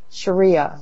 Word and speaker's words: Sharia: And it was, like SHE-REE-YA. Sharia. Something like that.